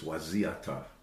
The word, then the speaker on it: Wayzata: for telling them that their real name is Wasiata. And when you spell that name, Wayzata, I said, that's not English, and it's not Dakota. It's not in English dictionaries nor Dakota dictionaries. Why? Because... I'm not trying to poke your finger here. I'm just saying it's misspelled, mispronounced, misheard. It's a problem.